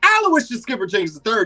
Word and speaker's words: Aloysius Skipper Jenkins III: You were so close. But the name is Aloysius Skipper Jenkins III. You have to say the whole thing like a Tribe Called Quest.